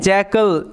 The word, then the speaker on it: jackal: এটার উচ্চারণ কি করছি জ্যাকল এ এল এর উচ্চারণটা কেমন করছি আল কেমন করছি আল কেননা এল শব্দের শেষে থাকলে এটা আল হিসেবে উচ্চারিত হয় জ্যাকল কথার অর্থ হচ্ছে শিয়াল